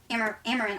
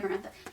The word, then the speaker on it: Amaranth: And then Amaranth, I almost said Amarantha.